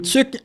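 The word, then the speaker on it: tuque: Or maybe this in tuk in French is t u q u e.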